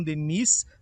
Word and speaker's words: Denis: do Edu Candário Leon Denise, tem esse S no final, mas por ser francês a gente pronuncia só Deni, do Candário Leão Deni.